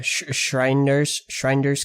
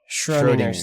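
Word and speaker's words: Schrödinger: It's a Schreiner's cat, Schreiner's Lego box. Schrodinger's.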